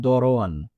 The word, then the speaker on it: দরোয়ান: একটা বিকৃতি তো এই দরোয়ান শব্দটা বইয়ে যেটা এসেছে সেটা মূলত দারোয়ান শব্দের একটা উচ্চারণ ভেদ আচ্ছা অর্থাৎ ভিন্নভাবে উচ্চারণ আচ্ছা কাবুল কাবুলের অর্থ এখানে